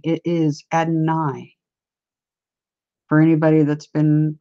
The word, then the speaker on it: Adonai: He corrected me because I was pronouncing it wrong. It's not Adonai, it is Adonai. For anybody that's been pronouncing it wrong, just an FYI, it is Adonai.